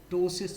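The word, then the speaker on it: ptosis: पी यहां पर silent है।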